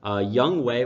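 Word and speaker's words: Younghoe: I would sit Young Wei, which I've learned is how you pronounce his name now, so that's great.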